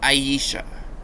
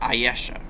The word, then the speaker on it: Ayesha: I always pronounced Ayesha wrong when I first knew about Ayesha. I was always pronounced it Aisha, when it's actually pronounced Ayesha.